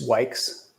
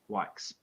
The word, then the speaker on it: Wykes: It's Wykes. Wykes.